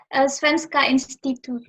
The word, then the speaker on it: Svenska institutet: Gimana bacanya nih? Svenska Institutet.